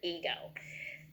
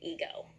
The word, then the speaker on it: ego: up and we know the first soul says e and the second syllable says go put it together ego like the man with the muscles had a big ego ego so over here